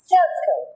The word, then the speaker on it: circle: ذا شيبس ذا فيرست شيب معانا سيركل. سيركل. سيركل سي اي. قلنا سي لما بيجي بعدها اي تتنطق سي.